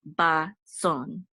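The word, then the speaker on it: בצאן: And then we have a bet here, and this says ba, and this is a sadi, and this is the accent. So the accent is going to be on the last syllable. Sadi with, and this aleph has a cholem, so, and the nun sofit closes it out, so it says son, ba, son. And so this is with the flock.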